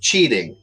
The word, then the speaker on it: cheating: note the bad word in Portuguese okay again pronunciation is important winning the saying that the students were cheating so cheating ei in the middle of that word makes